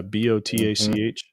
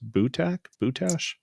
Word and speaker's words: Botach: Yeah, I don't know how it's I pronounce it BOTAC, but I think it's pronounced Bootash, something like that. I would say Bootash.